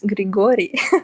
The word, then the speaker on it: Grigory: Is that Gregory or Grigory? Okay, for you it's Grigory.